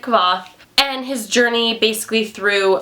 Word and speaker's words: Kvothe: It's about this man named Kvothe, or Kvothe? You can pronounce it however you'd like. I pronounce it Kvothe.